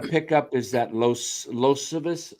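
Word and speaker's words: Iosivas: A guy you might want to pick up is that Losivas. How do you say his name? Eos Vasas.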